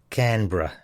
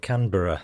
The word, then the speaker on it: Canberra: mate, a bit of strong pronunciation. Brisbane, Melbourne, Canberra. Says me, so it's not Brisbane, Melbourne and Canberra then.